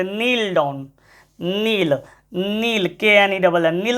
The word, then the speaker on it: knoll: ना, उसी को ड्यून या टीला, उसी को नॉल भी कहते हैं, नॉल।